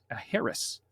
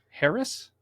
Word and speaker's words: heiress: Harris? Harris? Yeah. It's an heiress.